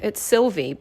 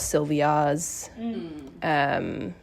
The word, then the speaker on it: Sylvie: You know, they can't pronounce Sylvie or Sylvie. I get a lot of Sylvias. Yeah, that's my name. I think the Y throws people off when they read it.